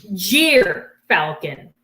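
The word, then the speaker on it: gyrfalcon: excited all right so this is called a jeer falcon that's spelled g-y-r and they live in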